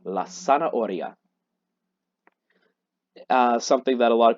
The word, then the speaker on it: zanahoria: some reason, is la zanahoria. Zanahoria. Remember, in Spanish, a Z does not go zzz, it just goes sa. And an H is silent, so we have la zanahoria.